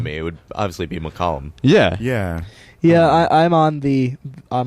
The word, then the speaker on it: McCollum: I'm And I say it's McCollum. M C O L L U M. And she's like, "Oh." And I'm like, "That that sounds weird to me. It would obviously be McCollum."